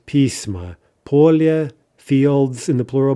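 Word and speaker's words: письма: Pismo, plural, letters, pisma.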